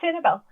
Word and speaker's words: Sanibel: I'm sorry, I don't know how to pronounce the name of your new game. Yeah, Sanibel.